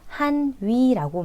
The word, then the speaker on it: 汉语: 중국인들은 중국어를 한위라고 말을 합니다. 한족의 언어라는 뜻이고 이 한어라고 읽는 것은 한자를 한국어로 읽은 것이고 한위라고 한 것은 한자를 중국어로 읽은 것입니다.